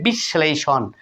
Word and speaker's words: বিশ্লেষণ: হবে দীপ্ত হবে বন্ধুরা দেখুন তাহলে স এর সঙ্গে কিন্তু ল ফলা যুক্ত রয়েছে বন্ধুরা তাহলে কি হলো 20 একটা অতিরিক্ত স আসলো তারপরে যেমন যুক্তবর্ণ সহ ছিল ঠিক সেরকম উচ্চারণ করবেন তাহলে কি হবে বিশ্লেষণ অনুরূপভাবে বন্ধুরা আমরা নেক্সট